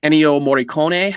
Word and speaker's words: Ennio Morricone: And the score is done by Ennio Morricone, I believe is how you pronounce his name.